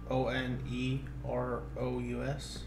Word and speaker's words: onerous: do you spell it o n e r o u s o n e r o u s onerous onerous it's like a walrus but only one okay what is that